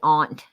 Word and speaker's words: aunt: the ant to rose the aunt is the proper way to pronounce it um and yes